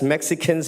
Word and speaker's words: Mexica: But my point as an indigenous person, they know us as Mexicans, but Mexica is the correct way to say Mexicano.